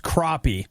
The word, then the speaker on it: crappie: know our news guy he says that crappy is pronounced crappie wrong wrong